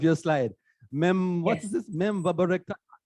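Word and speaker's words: meropenem-vaborbactam: Memvaborectam, right? How do you pronounce that? Meropenem vapobactam is how we pronounce it.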